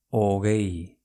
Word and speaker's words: hogei: Hogei. H-O-G-E-I. Hogei. Venga, ¿cómo se escribe 11 en euskera?